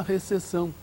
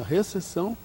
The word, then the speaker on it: recepção: Mas os portugueses mantêm a consoante, mantêm a consoante escrita e não a pronunciam. Se você for a um hotel em Portugal, você vai ser recebido na recepção.